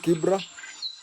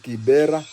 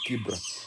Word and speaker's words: Kibra: And you know the original Kibra, where it started, it's called Kibra, but the Wazungu could not pronounce it, so they called it Kibera, and we Kenyans call it Kibira, but the name is Kibra.